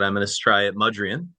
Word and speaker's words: Mudrian: I always say your last name wrong, but I'm going to try it. Mudrian, correct?